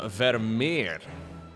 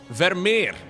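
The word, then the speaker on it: Vermeer: And just like that, we find ourselves on Vermier. I'm going to pronounce that in the most Dutch way possible. Okay, Vermier. In Dutch, we tend to roll every R.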